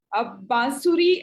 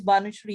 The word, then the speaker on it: Banusri: Bansuri, you have raised your hand. You want to say Banusri. Sorry, I'm not. Thanks for pronouncing my name correctly. It is Banusri, yes.